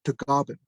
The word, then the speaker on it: Tagaban: My father was Tlingit Filipino, and he in the Philippines is pronounced as Tagaban.